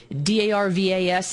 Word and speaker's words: Darvas: Darvas is how you pronounce his name if you want to go on Amazon and look him up.